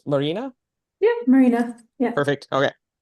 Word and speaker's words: Marina: Yeah, well, I appreciate the effort because I get called Maria a lot. So Marina is very nice. Just Yeah. trying, the N is silent for some people. They're like, oh, yes, this is Maria. And you're like, No. no. Close, but oh yeah, just one more letter.